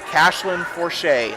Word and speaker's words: Cashlyn Forche: Cashlyn Forche is how you pronounce that. Not, I was saying, I don't know. The score sheet, it looked like an E, so I apologize for that.